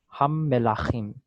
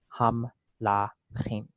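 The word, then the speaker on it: הַמְּלָכִים: In that case, they're making this vocal because the mem is doubled with this dagesh. So that means that the first syllable is closed. Here it is syllabified. Ham. And then you have melachim, okay? So if that was if there was no dagesh there, it would easily, for Sephardic pronunciation, it would easily be ham lachim, okay?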